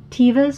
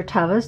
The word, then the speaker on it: Teva: Beneath that are my Tevas, or Tevas, depending on how you pronounce it.